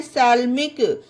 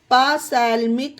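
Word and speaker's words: psalmic: अब ये वाले वर्ड में पी के बाद एस आया है तो यहाँ पी साइलेंट है, इसे पढ़ते हैं सैल्मिक। इसे पासैल्मिक नहीं पढ़ना गाइस, ये गलत हो जाएगा, सैल्मिक।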